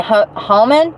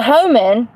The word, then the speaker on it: Homan: So some guy named Hallman, 62, has been tasked with Trump's top priority of carrying out the largest deportation operation in the nation's history. It's H-O, it's spelled Homan. Homan. H-O-M-A-M-A, I'm sorry, M-A-N.